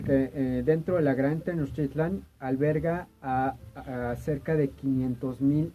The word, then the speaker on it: Tenochtitlan: Ahora, en lo que respecta a en sí la palabra Tenochtitlan, si la desmenuzamos por sílabas, sería Tenochtitlan. De las palabras te o